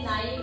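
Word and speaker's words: knife: लक्षात ठेवायचं एन च्या आधी जर के असेल तर क चा उच्चार करायचा नाही तर कशाचा उच्चार होणार आहे न चाच उच्चार होणार आहे म्हणून इथे बघा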